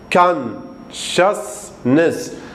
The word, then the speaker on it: consciousness: consciousness الأس والسي والآي والأو تلفظ الشي بس الكتابة تختلف.